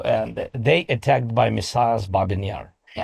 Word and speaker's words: Babi Yar: the The name, uh, how do you pronounce the name of the monument in your language? Babi Yar.